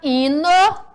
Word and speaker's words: hino: e observando a palavra hino podemos dizer a palavra hino e se inicia com h o tio h não possui som ok olha só a